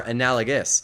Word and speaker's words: analogous: Analogous. Analogous. Similar, akin, comparable. Yeah, a lot of people pronounce comparable, comparable, which is not correct, but it's become accepted.